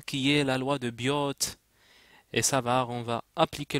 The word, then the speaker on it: Biot: appelle la loi de Biot et savar loi de attention bon ça s'écrit bio mais ça seit Biot la loi de Biot